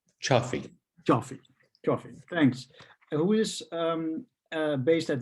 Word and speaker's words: Cioffi: Do I pronounce that correctly? Cioffi.